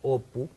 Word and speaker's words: Apu: Y también la historia es totalmente autobiográfica, o sea, la historia de Apu, que en bengalí lo pronuncia más como Opu, está basada en la vida de este escritor, que tiene mucho que ver con Satyajit Ray.